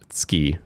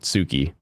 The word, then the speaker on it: Tsuki: So ski, like I love you, or love, is ski, not Tsuki, even though it's spelled Tsuki, which is one of the things that, what is his name? Oh, PewDiePie and his wife have that clothing line that's Tsuki. It's like, no, it's ski.